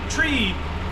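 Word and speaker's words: three: November, for 3 we say tree.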